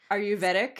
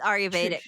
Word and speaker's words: Ayurvedic: practice now it's I I can't really pronounce this aruveetic it's aruvedic okay so it's not a